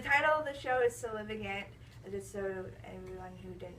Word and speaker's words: Sue-Lyn: But the title of the show is Sue-Lyn. Just so everyone who didn't know how to pronounce it, that's how you pronounce it.